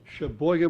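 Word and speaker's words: Sheboygan: He lives in Shboen. Shbboan, Wisconsin. You have to say it like that.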